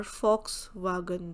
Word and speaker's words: Volkswagen: Like, just for an example, you know the car Volkswagen, that's a German car and starts with V, we pronounce it as Fox, F.